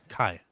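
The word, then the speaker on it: Cai: How do you pronounce that? C-A-I. I say Kai, right?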